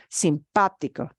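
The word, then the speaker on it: simpático: pronounced simpatico simpatico is pronounced sympatico simpatico so we need to put the the uh uh tilde over the past syllable sympatico okay here's the word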